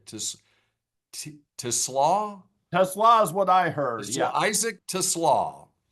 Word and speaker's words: TeSlaa: And do you have the correct pronunciation to Slaw? Tesla is what I heard.